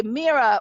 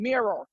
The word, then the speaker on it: mira: Miami, especially the Cubans, when they say mira, which is like, it's spelled Mira, which means like darling, dear, like, mira, come here. I can't say it. I sound like I'm saying mirror.